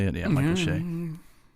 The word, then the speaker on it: Che: she uh had some jokes for Michael Shay Shay is that how you say it yeah Michael Shay it's very very late for me on Saturday